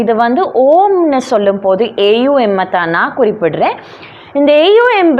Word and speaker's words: ஓம்: இது வந்து ஓஎம் இல்லை, இதை நீங்கள் வடிவாக நோட் பண்ணிக்கொள்ளுங்க. ஓஎம் இல்லை, ஏயுஎம். சர்டன் சவுண்ட்ஸ் இருக்குது, ஏ சவுண்ட், ஊ சவுண்ட், எம் சவுண்ட்.